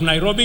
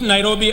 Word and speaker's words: Nairobi: let us recall that the city is an anglicized pronunciation of encare which is the kimasai means which in kimasai means the river of Cool Waters for the Maasai a